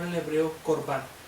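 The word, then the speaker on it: קורבן: Dijimos que la palabra ofrenda se pronunciaba en el hebreo korban, y que realmente lo que korban significa es acercarse.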